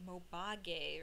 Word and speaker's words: Mobage: Actually, I found out that it's pronounced Mobage or something like that.